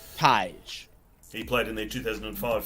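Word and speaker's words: Tadhg: umor the 2010 Ty pronounce Tai he played in the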